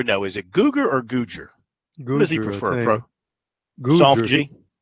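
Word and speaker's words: Googer: Is it Guger or Guger?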